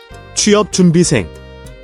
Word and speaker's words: 취업 준비생: 취준생, The pronunciation, when broken down, is 취, 업, 준, 비, 생, but naturally flows as. 취업 준비생.